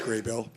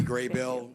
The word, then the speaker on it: Grable: We'll now have Grable, followed by Sonny Bartley. Thank you, School Board. The last name is pronounced Graybill. My name is you. Graybill, and my address is on file.